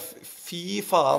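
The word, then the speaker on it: fy faen: But you got to say like fi faen.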